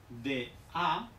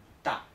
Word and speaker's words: da: Entonces, por ejemplo, D-A no se pronuncia da, no. Se pronuncia con una T, o sea, ta, ta, ta, ta.